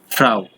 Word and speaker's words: Frau: এই উচ্চারণ কি ভাইয়া? ফ্রাউ।